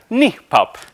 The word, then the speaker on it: NIPAP: this whole thing and on the topic of how to pronounce it the kns that Say ni pronounce it nip uh feel free to pronounce it however you please though right thank